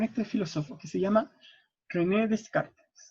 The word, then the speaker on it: René Descartes: El origen de la razón aparece con este filósofo que se llama René Descartes. O René Descartes en realidad. Como se pronuncia.